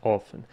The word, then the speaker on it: often: Он, кстати, говорит не often, а often, что опять же подсказывает нам, напоминает о том, что он британец. Вот давайте послушаем often, как произносит американец. Often. Often. Often. Often британец. Вот у него как раз британская версия.